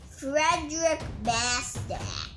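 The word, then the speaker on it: Frédéric Bastiat: they called it roy pronounced the author's name frederick basta my parents named me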